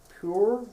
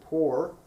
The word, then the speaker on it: Pur: them and they cast pure that's you to pronounce pure like the water filter or poor uh that the lot